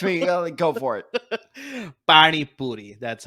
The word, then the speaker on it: pani puri: Parni Puri? Am I saying that right? Yeah. Close enough. Correct me. Go for it. Pani Puri.